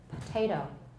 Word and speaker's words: potato: that vowel voiceless listen in theory it's potato potato but in practice it's often potato potato what happened to the vowel it became voiceless because of the the initial consonant the initial stop was voiceless plus is that syllable